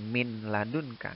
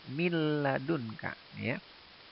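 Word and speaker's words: مِن لَّدُنكَ: sukun bertemu nyelang nyelang jadi cara membacanya mil ladunka Nun nya ya dileburkan dimasukkan ke suara lam mil ladunka hanya nonya hilang karena disini dihukumi dengan sindrom Jadi bukan Min ladunka tapi mil ladunka sukunnya dilaporkan ke suara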